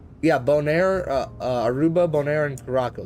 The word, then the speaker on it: Curaçao: Curaçao. That's how you pronounce the island.